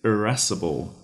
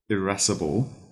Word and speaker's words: irascible: describe as being rustic our third word is erasable erasable that is spelled i a s iress c i b